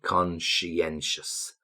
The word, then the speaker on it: conscientious: Perceptive, inspirational, overambitious, conscientious. Be careful with that pronunciation. Conscientious.